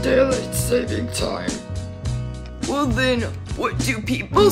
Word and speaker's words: daylight saving time: I'm saving the daylight savings time. It's actually pronounced daylight saving time.